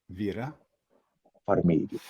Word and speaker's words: Farmiga: Like really pronounce it like properly because it's Vera. All right. Vera Farmiga.